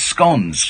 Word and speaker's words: scone: at the Imperial no it's scones tons cousins you're supposed to rhyme with stones let's not yesyes it